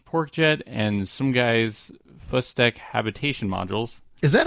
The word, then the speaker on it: Sumghai: The parts come from many different sources, such as KW Rocketry, Bahamuto D, PorkJet, and some guy's Fustek habitation modules. Is that how that's pronounced?